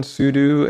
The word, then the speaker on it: sudo: Sudo or it's also often pronounced sudo, but it's spelled sudo.